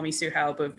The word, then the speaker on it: Tzu-Hao: And actually, on that subject, so the way I pronounce my name in English, Tzu-Hao, that's actually an anglicized pronunciation. Like the actual name in Mandarin is Tzu-Hao. So Hao aside, Zi is not a sound that exists in English.